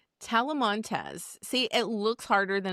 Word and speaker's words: Talamantez: It's pronounced Telemontes. Talamontes, see it looks harder than it actually is and I sometimes I'll say it and I will fail miserably.